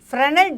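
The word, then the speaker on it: Fresnel: what is fral deflection here s is there but s is silent so that is why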